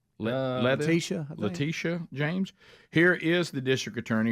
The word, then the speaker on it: Letitia James: Letitia. Letitia James.